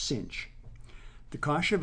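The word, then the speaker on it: sinh: corresponding hyperbolic sine function written SI n HX pronounced cinch the cost of x is e to the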